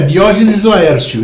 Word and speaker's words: Diógenes Laércio: português ou se você qual como que se pronuncia o nome dele em português? É Diógenes Laércio.